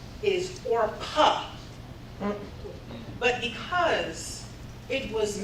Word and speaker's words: Orpa: First and foremost, my name is not Oprah. My name is Orpa. But because it was mispronounced and misspelled so many times, I changed my name so it'd be easier to annunciate.